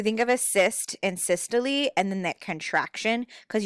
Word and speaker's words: systole: through the actual heart okay so we have systole and we have diastole or diastole it all kind of depends on who you talk to um what you're going to learn how to pronounce it but the top is systole this is the contraction of the heart so this is that squeezing mrs ritter was like think of a cyst which a cyst is